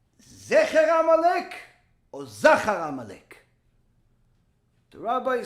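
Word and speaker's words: זָכָר: Although it's spelled exactly the same, the vowels, the nikud, are slightly different. Whereas Zecher, which means the memory of Amalek, has the 2 dots. Zachar has the little plus, upside down plus sign.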